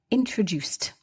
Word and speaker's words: introduced: But what's really interesting to me here is the past participle introduced. So introduced the ed is pronounced as t, not d or id.